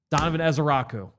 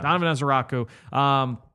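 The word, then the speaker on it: Donovan Ezeiruaku: Donovan Ezeraku. So, which is much easier to say, by the way. Yeah. Donovan Ezeraku.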